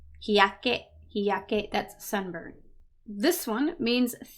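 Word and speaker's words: 日焼け: This is not a little ya. It's a normal ya. So it's not hyake, it's hiyake, hiyake, that's sunburn.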